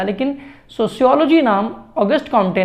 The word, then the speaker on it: Auguste Comte: Sociology word सबसे पहले ऑगस्ट कॉम्टे ने यूज़ किया था। ऑगस्ट कॉम्टे एक फ्रेंच फिलोसोफर है। ऑगस्ट कॉम्ट वैसे इसको प्रोनाउंस किया जाता है, मैं फ्लो में ऑगस्ट कॉम्टे कर जाते हैं।